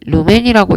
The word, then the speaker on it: 루멘: 광속, 이 광원에서 빛이 나갈 때의 전체적인 양, 그게 광속이고 단위는 LM, 루멘이라고 읽고요.